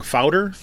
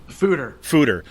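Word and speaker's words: foeder: How do you say this? I always say this wrong. Fouder? Fooder.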